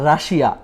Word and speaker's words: Russia: তারপরটা রাশিয়া, RUSSIA, রাশিয়া, তাই না? হ্যাঁ। এটা কি আপনি সত্যি বলেন তো, জানেন কিনা এটার কারেক্ট প্রনাউন্সিয়েশনটা কি? আমি রাশিয়াই সবসময় শুনছি। আচ্ছা, এটা রাশিয়া না, উচ্চারণ হচ্ছে রাশা।